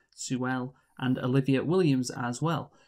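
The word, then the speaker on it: Sewell: sometimes i just commit to pronouncing like really overpronouncing his name like rufus sue well sue well and olivia williams as well so michael this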